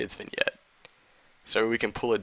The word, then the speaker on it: vignette: you say vignette and i'm going to hope to get that that's actually how you say it that's how my professor said it even though it's spelled vignette i'm going to say it's been yet so we can pull